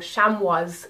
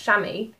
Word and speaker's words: chamois: You might have seen the word chamois or chamois as it's written, but it's actually pronounced chamois.